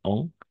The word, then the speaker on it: en: En, igualito, en, pero vamos a pronunciar on.